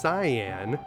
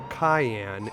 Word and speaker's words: Cyan: As a kid, I always pronounced this guy's name as Cyan. But after seeing the original Japanese version where they actually spell it out, I'm quite confident that the developers intended his name to be pronounced Cayenne instead.